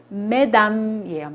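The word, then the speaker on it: mesdames: 마담 복수는 메담이에요.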